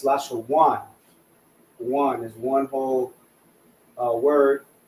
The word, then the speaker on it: Lashawan: But when two characters are connected, the last character, the a, so like I won't say the a because that's like English terms, right? But the a, because it's na, right? Wa, so the a will fall off. So it'll just say one instead of wana, right? Lasha wana, it's lasha one.